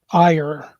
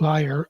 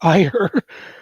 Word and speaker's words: Iyer: His name is actually Iyer, not liar, Iyer.